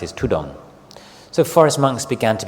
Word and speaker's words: Thudong: Tai word the derivation or the way it's pronounced is tudong so Forest monks began to be called tudong